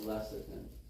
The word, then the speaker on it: lecithin: That might be spelled wrong, but it's pronounced lecithin.